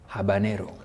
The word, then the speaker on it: habanero: just picked one of it here it's called habanero yes that's how you pronounce it habanero chili yeah habanero chili yeah in the office